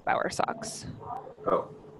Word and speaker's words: Bowersox: and it sounds just it's spelled just like it sounds Bauer Bo wer and then I think it's s o X power Sox - Johnson sorry so it's not Sox like the socks on your feet Johnson yeah